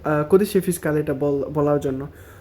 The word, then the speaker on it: codice fiscale: হলো lesson three তো আজকের ক্লাসে আমরা জানবো কদিশে ফিসকালে কদিশে ফিসকালে সম্পর্কে আর এটার নাম্বারটা তো কদিশে